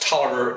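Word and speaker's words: Taliaferro: no cows in moscow had a last name that was spelt r r t-a-l-i-a-f-e-r-r-o why that is pronounced toler escapes me but by golly i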